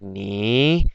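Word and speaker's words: 你: So there's four, and this is like how you would pronounce this is like ni. You go like down up.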